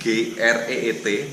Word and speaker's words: Greet: G dan T ini singkatan dari nama orang, namanya Greet, G-R-E-E-T. Tapi kalau karena ini nama Belanda, pronounce-nya jadi berbeda. Pronounce-nya adalah Greet.